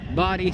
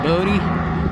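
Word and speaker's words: Bodie: there i've been out there several times before body spell b-o-d-i-e yeah i know it's not like it should be bodhi for years we pronounce it incorrectly booty the one the locals said no it's body brother and we did some research and found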